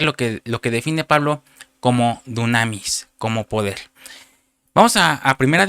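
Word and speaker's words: δύναμις: Cuando Pablo dice en poder, usa una palabra griega que está en la concordancia Strong 14:11, y es una palabra griega que se pronuncia dunamis, que quiere decir fuerza, que quiere decir milagro, eficacia, poder, maravilla, capacidad, potencia.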